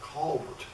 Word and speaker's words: Colbert: a scots ancestry and he called herself colbert actually he probably called himself culvert because that's the way he pronounced the name i'll call him colbert because that's what everybody calls it these days and i can never